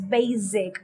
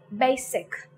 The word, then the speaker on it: basic: next word basic sometimes some speakers tend to pronounce basic as basic that is they tend to use z sound that is wrong again so you would have to pronounce it as basic next word crisis make